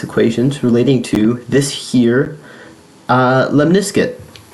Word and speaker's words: lemniscate: And yes, that is how it's pronounced. So I'm like 90% sure. There's a reason as to why I started a math channel and not an English one. But yes, I'm pretty sure it's called lemniscate.